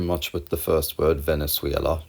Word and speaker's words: Venezuela: You don't have to do much with the first word, Venezuela. You just have to pronounce it a bit differently, Venezuela, because it's a loan word and we pronounce it differently in English and Swedish.